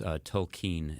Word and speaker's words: Tolkien: Well, I've always heard, I think he might have mentioned in a letter that it's Tolkien is how he would pronounce it. Okay. And Professor? I say Tolkien because I've been saying